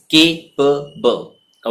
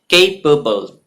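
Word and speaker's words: capable: जी हाँ, the pronunciation is केपेबल। Okay, केपेबल।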